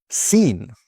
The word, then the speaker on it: scene: Now, for the silent C. This often happens before the letter K or in some SC words. For example, muscle. Muscle. Okay, not muscle, but muscle. Scene.